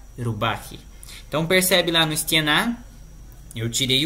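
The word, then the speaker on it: стена: A sílaba tônica ela estava no final ali, ó, stiena, e ficou no meio, stienei.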